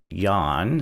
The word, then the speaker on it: Jan: And um in this game, you kind of you start as a character named Yan, spelled like Jan.